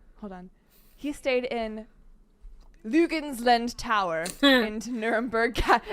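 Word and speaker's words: Luginsland: He stayed in Lugensland Tower in Nuremberg. It looks like Lugs Island, but it's Lugensland.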